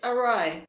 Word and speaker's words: awry: How do I pronounce the word Okay, so ori, orai, or how is it? Can you please yeah, explain? it's arai. So you would Orai.